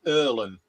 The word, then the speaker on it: Irlam: It's pronounced Earlham with an I.